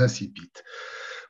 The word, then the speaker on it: incipits: On va parler des incipits, ou plutôt, comme j'utiliserai ce soir, comme j'utiliserai le mot, des incipits. Pourquoi je préfère la prononciation française?